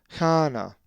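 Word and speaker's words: Κανά: So this word is pronounced kana.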